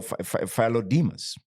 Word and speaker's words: Philodemus: Since then, thousands of characters have been revealed, unlocking writings by Philodemus. It's like Nicodemus, but Philo is, sort of, when you hear philosophy, right? The study of the mind, the study of so Philodemus, right?